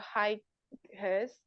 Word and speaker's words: highest: Oh, my level of patience has reached to the highest. Benar nggak sih to the highest point? Jadi GH-nya nggak dibaca ya? Nggak dibaca jadi apa?